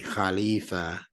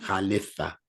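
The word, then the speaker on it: خليفة: a h that's correct and sometimes if you're reading it in a book instead of ee they might put an i but the sound for pronunciation sake is double e not Khalifa Khalifa okay you ready to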